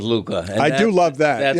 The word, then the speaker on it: Luka: You just love that hookah rhymes with Luka.